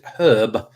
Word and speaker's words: herb: But my whole life, nonetheless, regardless, I've always pronounced it herb with an H on it. So there you go.